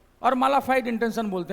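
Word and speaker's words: mala fide: ठीक है, इसके बाद और भी बहुत सारी चीज़ें हैं, जैसे हम लोग बोलते हैं बोनाफाइड मालाफाइड, that is नॉट बोनाफाइड और मालाफाइड, बोनाफाइडी मालाफाइडी।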